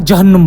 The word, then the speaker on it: Jahannam: There was no "G" alphabet in Arabic. Arabic used to pronounce "Ga" as "Ja". In this way "Gai Himmon" got spoiled and became "Jahannam". The Arabs called "Gai Himmon" as "Jahannum". The Prophet also used to